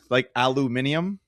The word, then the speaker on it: aluminium: But I think it's how they pronounce it, aluminium.